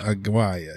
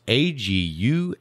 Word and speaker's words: Aguayo: It was John Aguaya. Aguaya, yeah. How you spell that? Aguia? No. How did he spell it? That's not even close. It is actually, oops, I clicked on the wrong one. This week's winner is John Aguaya. It's Aguayo. Aguayo. Aguayo. Oh, Aguayo.